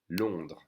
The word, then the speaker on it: Londres: So we don't say the ES at the end. Okay? Londres.